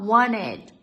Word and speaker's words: wanted: Ele não fala o T, ele fala wanted, wanted.